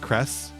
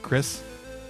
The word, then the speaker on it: Cress: Is that how it's pronounced? Cress? Not Chris? Had to look it up.